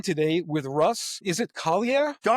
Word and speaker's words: Colliau: Is it Kier? Darn close, Leo. Okay. I'm always with my name Russ. No one can pronounce it right.